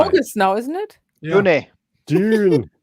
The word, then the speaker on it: Dune: Have you seen the trailer for June? I think we were sure. June. Now. Is that one before July? August now, isn't it? Yeah. Dune.